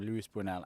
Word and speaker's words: Luis Buñuel: It's like a really old film made by Buñuel, I think you pronounce his name, Luis Buñuel, and Dali, Salvador Dali directed it.